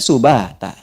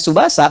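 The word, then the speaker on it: سُبَاتًا: Allah telah tetapkan fungsinya subata. Jelas? Jadi kalau Anda bacanya subasa, bangun tidur ingat bola. Berapa skornya nih? Wa ja'alna naumakum subasa. Subata.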